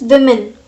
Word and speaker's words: women: So I am telling you side by side this pronunciation also, that is women.